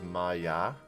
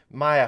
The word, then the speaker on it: Maya: maya left may since i think the pronunciation is maya since maya left the